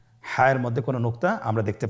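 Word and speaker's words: ح: হা হরফটি কীভাবে উচ্চারিত হবে? হা হরফটি উচ্চারিত হবে কণ্ঠনালীর মধ্যখান হতে। গলা চিপে ধরে আপনি উচ্চারণ করুন। আপনারা আমার সাথে বলুন হ্যাঁ।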